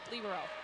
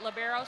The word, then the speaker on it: libero: word meaning free which the Italians pronounce it libero so we've kind of Americanized it to pronounce it labero so you'll hear it